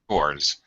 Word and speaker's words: chores: Chores. Chores. Z Chores. sound. Yeah. Chores. Chores. We're chores. Yeah. Z sound at the end.